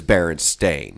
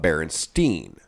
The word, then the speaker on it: Berenstain: always berenstain and yep the family itself is barren stain not berenstein or stein or whatever however you wanted to